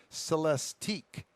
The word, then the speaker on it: Celestiq: upcoming cadillacs the lyric lyric uh-huh lyric and that's spelled l i'm sorry l-y-r-i-q and the celestique c-e-l-e-s t-i-q end with the same two letters